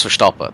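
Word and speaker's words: Verstappen: don't pronounce the N it's like with Max foren Max for stopper that's how they say it in the Netherlands they don't pronounce the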